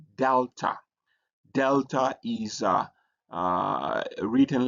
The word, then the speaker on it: delta: And then the next letter that we have is called delta. Delta is uh uh written like this. It has a D sound like D in dog.